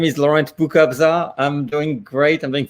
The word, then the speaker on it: Boukobza: Boukobza. Yes. Boukobza.